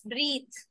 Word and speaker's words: breathe: Okay, if E is not there, it's breathe. Right? It's breathes. But E makes it what? Breathe. Th. Okay, so the voiced th comes when E is there.